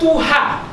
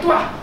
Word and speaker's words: Tuha: Kata Tuha, Tawaha pun silap dibaca sebagai Tuah.